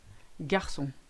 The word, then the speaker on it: garçon: That little squiggle called the cedilla is made to give the C an S sound. So maçon, français, garçon.